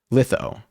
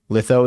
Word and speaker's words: litho: Litho. Litho is where the I is pronounced like the word lit.